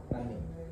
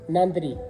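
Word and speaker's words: நன்றி: Nandi. Nandi. Nandri. Nandri. Nandi. Nandi. Yeah. And Tamil people say Nandri.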